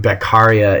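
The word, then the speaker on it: Beccaria: man named cesare beia beara is how we usually hear it pronounced he is a philosoph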